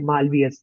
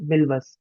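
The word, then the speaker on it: Milvus: अब बात करते हैं मालवियस। मालवियस जो है उसको हम सही तरह से स्पेल नहीं करते हैं। उसका जो असल मायने में प्रोनाउंसिएशन है वो है मिलवस।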